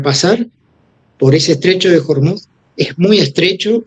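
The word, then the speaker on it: Hormuz: Y si analizamos el estrecho de Hormud, así Jormut se pronuncia en Fars, Fars, el Hormud, tiene 33 km de ancho en la parte más angosta y a veces tiene más.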